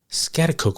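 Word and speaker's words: Schaghticoke: Coke New York 6 months before his death scatacook which is spelled s c h a g h t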